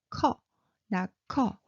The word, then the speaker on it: 커: 커. Did you hear that? It's a burst of air. So this one is 커, number 2. Okay, so 나 커, which means I am tall.